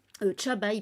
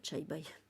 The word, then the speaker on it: Chabai: Chabai, pardon, pas Chai Bai. Si je prononce mal, ça va pas. Chabai, il s'appelle.